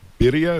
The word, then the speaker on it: birria: That the spices and is it birria? Is that how you pronounce it?